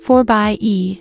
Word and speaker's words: 4xe: the grand cherokee with the 4-axi pronounced 4 by e variant the grand cherokee